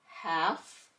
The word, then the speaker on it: half: L is silent. We hear the F. Half, calf, and behalf.